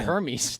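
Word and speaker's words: Hermès: you know my question that could be the Hermes dude that might be the her Hermes n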